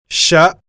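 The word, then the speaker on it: ش: Le Sha est équivalent à la combinaison des lettres C et H, comme dans le mot chemise.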